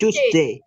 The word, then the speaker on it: Tuesday: Bacanya bacanya bukan T, diganti C. Tuesday. Tuesday. Choose. Ayo pergi ke mall, choose.